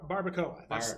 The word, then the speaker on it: barbacoa: barbacoa. That's how you pronounce it.